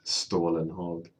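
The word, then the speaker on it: Stålenhag: Simon Stalenhag, or how is it pronounced? Stolen Hog. Stalenhag.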